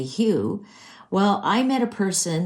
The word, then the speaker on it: Hugh: And Hugh, I mean, if anybody were to read that, you'd say Hugh. Well, I met a person the other day and his name is Hugh, but he pronounces it Huff.